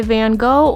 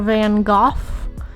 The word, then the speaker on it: Van Gogh: So, I chose Sunflowers by Van Go or Van Go is actually how it's pronounced.